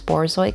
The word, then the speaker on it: Borzoi: The person that commissioned me for this trade actually requested floppy ears on this Borzoy custom.